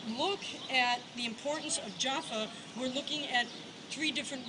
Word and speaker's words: Jaffa: of the second temple japa japa japa p in Hebrew looks the same as the F sound it all depends whether you put a dot in the middle or not we're not going to